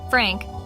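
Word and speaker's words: Pfrank: he spells it p-f-r-a-n-k apparently the p is silent Frank who my dad is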